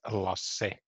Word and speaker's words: Lasse: Yeah, it's Lasse. You pronounce the A too.